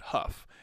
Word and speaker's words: Hough: skeleton named george fielder bill hugh pronounced that huff he had told garrity